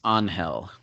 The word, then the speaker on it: Angel: Yeah, yes, yeah, and they're it's pronounced Angel.